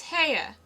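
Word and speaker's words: Haigha: happy his name is hare he pronounced it so as to rhyme with Mayor I love my love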